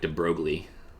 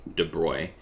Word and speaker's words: de Broglie: in france i believe his name looks like de broglie but i believe it's pronounced de bruy and he in his